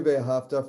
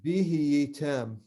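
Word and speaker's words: ואהבה: So you actually do pronounce all these things, V'Ahava, but often people say just that whole hey is silent, V'Ahava, that's fine too. Technically it would be V'Ahava, V'Ahava. But Yeah, to say, so most people skip the hey in practice. so it's V'Ahava.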